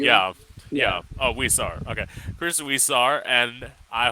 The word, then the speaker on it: Huizar: I'm gonna fuck up your last name, Chris. I'm used to. it. It's kind of pronounced like It's if there's a Huizar. W. Yeah. Yeah. Yeah. Oh, Huizar.